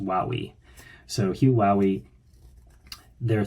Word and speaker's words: Hugh Howey: I found out, I said his name was Hugh Howey in a review, in the review that I did of Wool, but I found out it's actually pronounced Wowie. So Hugh Howey, there are 3 books in the Silo series,